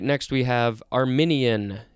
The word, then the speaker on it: Arminian: an armillary sphere all right next we have arminian it's not armenian it's arminian this is an adjective from 1617